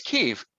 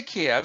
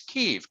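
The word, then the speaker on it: Kyiv: right ikea versus eve it's keef don't say kiev you'll piss me off it's keef keef that's how we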